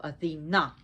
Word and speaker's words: Athena: So it's very important, the emphasis on the last part of the syllable, Athena.